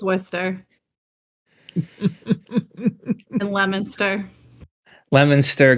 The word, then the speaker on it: Leominster: It's Worcester and Leominster, Leominster, Gloucester, Situate.